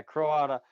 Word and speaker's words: Croata: some I've made up is it croata is that how you guys say it yeah C cro cro yeah croata she's the one with